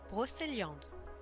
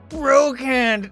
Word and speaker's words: Brocéliande: Brocéliande. Brocéliande. Yeah, that's a very French way to say it. Brocéliande. Brocéliande. And this is Celtic. Well, that is how to pronounce it in French. Fair enough. Brocéliande. Brocéliande? Brocand. Brocand! No, give that man an updo. That's a terrible pronunciation. Brocand. Brocand. Honey, I can tell you that it's not Brocand.